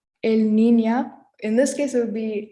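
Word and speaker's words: niña: of that word so that word is spelled and is pronounced nina i hope that makes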